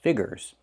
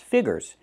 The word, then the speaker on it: figures: I cannot say figures, figures. The word is not pronounced figures, it's pronounced figures. We need that yee sound. Fig-yee-yee-yee, figures.